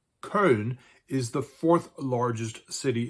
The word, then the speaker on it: Köln: With a population of almost 1.1 million people, this city, pronounced Köln, is the fourth largest city in Germany.